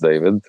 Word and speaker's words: Dejvid: so my name is David spelled phonetically which was my parents idea wasn't mine that's why it's djv um uh but it's pronounced David I know a lot